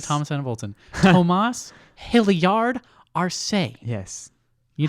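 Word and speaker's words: Tomas Hilliard-Arce: Tomas Hilliard Arce. Yes. You Hyphenated last name. Yeah, you got to put emphasis on every syllable.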